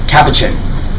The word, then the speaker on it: Capuchin: that's how you say it by the way Capuchin there's a movie with Ben Stiller and they